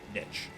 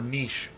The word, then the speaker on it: niche: Or niche. Interesting fact, niche is generally used for the physical, like a niche underneath a cupboard, and niche is generally used for the conceptual, but both pronunciations are correct.